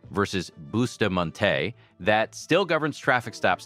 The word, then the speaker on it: Bustamonte: There is a 1973 Supreme Court ruling called Schneckloth versus Bustamonte, pronounced Schneckloth versus Bustamonte, that still governs traffic stops today.